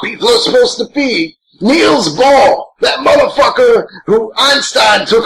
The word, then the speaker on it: Niels Bohr: Niels Bohr, motherfucker.